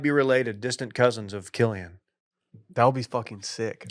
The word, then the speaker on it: Cillian: His name's Killian with a hard C. Killian.